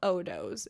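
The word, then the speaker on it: Odoughs: So, the brand is called Odos. It's spelled o d o u g hs like dough like sourdough. So odos.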